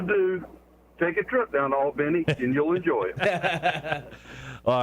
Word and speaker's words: Albany: is this hey it's charles how are you all this morning hey good man hey uh marshall